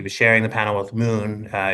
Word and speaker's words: MXXN: Like he was sharing the panel with Moon. Uh it's spelled MXXN, but it's pronounced Moon.